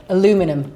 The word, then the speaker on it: aluminium: Aluminum. Aluminum free over in England. We say aluminium.